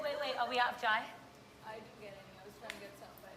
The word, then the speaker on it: chai: It's not chai, it's jai. No, chai. Chai. It is chai. chai. She was like correcting me like the whole time. Okay. Oh, wait. Are we out of chai?